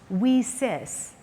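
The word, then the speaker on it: WiCyS: in cyber security has the acronym wi CYS pronounced we sis as we sisters and then she welcomed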